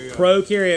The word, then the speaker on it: prokaryote: that lacks or Nell's prokaryote remember pro rhymes with no bro rhymes with no